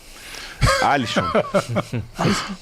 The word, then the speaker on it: Alisson: Alisson.